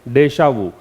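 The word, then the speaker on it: déjà vu: क्या प्रोनाउंसिएशन है? डेशावू।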